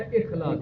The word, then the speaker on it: اخلاص: اخلاص. اخلاص. خلاص بھی نہیں ہے, اخلاص. یہ اپنا تلفظ ٹھیک کر.